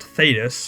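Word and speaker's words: Thaddeus: Thaddius pronounced Theatus for some reason is a freaking legend.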